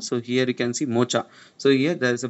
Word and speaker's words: Mocha: Mocha it is pronounced.